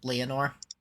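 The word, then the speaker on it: Lenore: I the reason that I clocked that it was the raven is because he said Leonor and I remember that what the raven says is never more which rhymes with Leonor.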